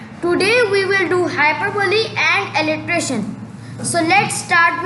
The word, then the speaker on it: hyperbole: Now we will see upon hyperbole. The correct pronunciation is hyperbole.